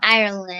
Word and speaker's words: Ireland: and ireland and scotland ireland ireland is ireland and uh and it kind of rhymes with iron yes yes yeah and